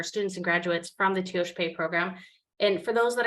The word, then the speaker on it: Tiospaye: and graduates from the teosh pay program and for those that are listening if you want to know how to say it correctly you say it fast that's what Dr Kirk